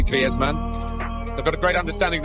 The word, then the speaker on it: Griezmann: His Spanish background, said he talks to his dog in Spanish and dreams in Spanish, so I think we can pronounce his name the Spanish way, Griezmann.